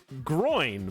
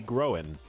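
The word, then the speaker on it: Gróin: is from uh glowen's father is groin but with an accent over the O so it would be growing but yeah it is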